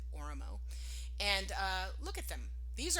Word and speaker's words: Oromo: I've heard people say Oromo, but I think I've heard Ethiopians actually use they pronounce it Oromo.